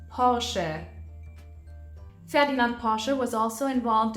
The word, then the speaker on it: Porsche: founded the Porsche idea hence the car brand is also pronounced Porsche fedin Porsche was also